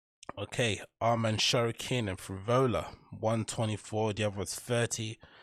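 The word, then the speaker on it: Frevola: Is that how you pronounce his name? Matt Frivola, not Frivolis. So we're adding an S at the end of this.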